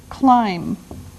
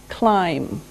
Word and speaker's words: climb: the first verb is climb climb now it doesn't sound like it looks now if this letter B is silent climb okay we climb a